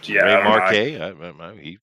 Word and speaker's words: Remarque: 2, Remarque, it's his word, not mine.